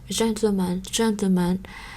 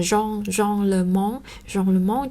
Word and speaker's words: gentleman: Như vậy thành ra đối với cái từ này thì chúng ta cũng không giữ các cái nguyên tắc phát âm như bình thường, như là không đọc là Jean Le Mont chẳng hạn, không.